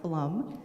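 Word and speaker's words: Flom: i currently live in flum minnesota it's f-l-o-m but it's pronounced flum and we are by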